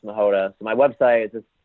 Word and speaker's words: Machota: So my name is spelled, my last name is spelled Machota. So it looks like Machota, but it's pronounced Machota.